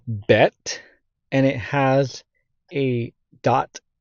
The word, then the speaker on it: ב: making the e sound when the BET doesn't have a dot in the middle of it then it's vet in modern Hebrew then we have the